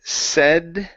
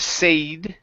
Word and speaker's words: said: let's go to UM the word said right here instead of sade okay it's a short e sound a set said and